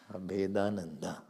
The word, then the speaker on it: Abhedananda: I said, you break it. Make it Abheda, then Nanda. Well, okay, Nanda is your surname. I said, okay, ठीक. It is single name. It's not surname. Abhedananda.